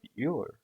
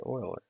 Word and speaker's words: Euler: population of the town of euler oiler sorry oiler that's how you say it right okay yeah it doesn't